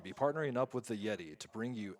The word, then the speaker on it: Yetee: Remember, Yeti is spelled YETEE.